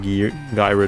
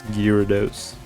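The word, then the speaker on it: Gyarados: I used to say like gyro. I think that's how you used to pronounce it. It's Gyados.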